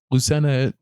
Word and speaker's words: Lucena: name just senena how do you say it Lucena yeah there you go that's very fun yeah